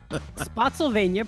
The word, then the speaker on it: Spotsylvania: Spotsylvania, pronounced like Pennsylvania. Oh, Spotsylvania.